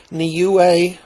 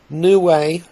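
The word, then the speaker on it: Niue: the actual island nation in the Pacific it's pronounced Neu or new way and it's just a little island that was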